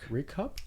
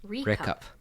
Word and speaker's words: RICCUP: Reccup? Rickup. Spell that.